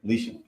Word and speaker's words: Elisha: Because the leprosy was removed from him when he came to him and did the things that Elisha had commanded him to do.